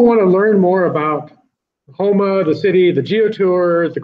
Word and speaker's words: Houma: A lot of people say Houma because of Houston, but it's spelled Houma, correct. And Houma, just like you want to go Houma again.